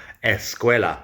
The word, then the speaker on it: escuela: A lot of words that begin with ST or SP or S plus another consonant in English, in Spanish they have an E at the beginning. So school is escuela. They don't really pronounce the SC at the beginning of the word very well. So escuela.